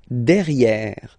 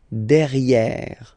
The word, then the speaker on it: derrière: Derrière. So if you look carefully, you've got E here and then double R, so it will open the sound of this E, and you should pronounce it E. Okay? Derrière. Same thing here. You've got this E accent grave, E. derrière. Okay, don't pronounce the final E. Derrière.